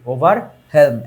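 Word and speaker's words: overwhelm: ওভারহেলম, ওভারহেলম শব্দের অর্থ কি, ওভারহেলম, এই যে ডাব্লিউ এর উচ্চারণটা এখানে আসবে না।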